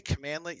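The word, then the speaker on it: cmdlet: to when I say commandlet you'll see this around it's written like this CMD let so if you see that that's pronounced commandlet and uh just want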